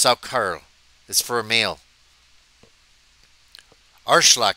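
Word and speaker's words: Saukerl: Sackerl, pronounced Sackerl, is for a male.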